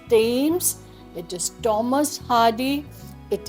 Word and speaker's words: Thames: Like usually I've heard people say Thames, they say Thomas, they say this, but it is not like that. It is Thames, it is Thomas, it is this, it is think, it is theme.